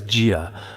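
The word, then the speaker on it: 贾: I pronounce it as jia. Wangsunjia asked rather than fing over the ancestral shrine why not fawn over the kitchen stove?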